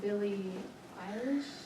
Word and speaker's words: Billie Eilish: Billie Eilish, that's how you say her name, and the Jonas Brothers.